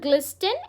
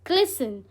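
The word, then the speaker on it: glisten: इट्स नॉट ग्लिस्टन, इट्स ग्लिसन.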